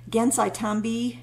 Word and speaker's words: Gansai Tambi: tambi oh my gosh i always mispronounce that gansai tambi watercolors i want it to rhyme i think that's a thing i feel like it should rhyme but it doesn't rhyme um because there's such